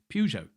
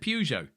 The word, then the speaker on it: Peugeot: a p yes yes just explain how you pronounce it so we're talking peugeot yeah so in ireland peugeot i said peugeot first time i came to england right what